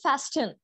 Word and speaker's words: fasten: Okay, aap log ne suna hoga fasten.